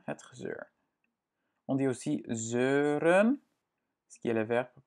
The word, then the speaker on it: zeuren: On dit aussi zeuren, ce qui est le verbe pour dire râler.